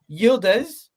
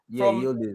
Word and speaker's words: Yıldız: My question is, Yıldız, Yıldız. That's how you pronounce his name.